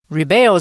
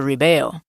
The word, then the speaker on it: rebel: 许多青少年在青春期时会反抗父母。要注意 rebel 这个字也可以当名词，但是发音会不同。当动词时是念作 rebel，当名词时则是念作 rebel，意思是造反者、反叛者。我们来造一个句子 A peace treaty between the rebels and the government was finally signed.